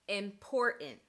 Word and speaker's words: important: To many non-native English speakers, it might sound like the T just disappears in these words. But that's not exactly what's happening. The T is becoming glottalized.